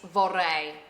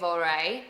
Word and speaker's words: vorrei: into their heads, it's vorrei. Vorrei. But if you can't roll your R's, don't worry about it. You could just say vorrei and they'll understand you.